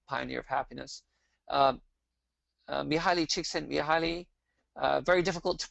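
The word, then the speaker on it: Csikszentmihalyi: of happiness uh mihaili chick sent me highly uh very difficult to pronounce um one useful tip i was given was think about your cheeks and think your cheeks send me high and so she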